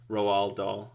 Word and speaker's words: Roald Dahl: movies are based on books by Roald Dahl Roald Dahl is how you say his name so both